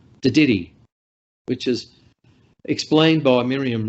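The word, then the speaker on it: Dadirri: And now I want to start talking about Te Didiri, as it's pronounced in the Daly River, Te Didiri, which is explained by Miriam Rose as a deep listening to country.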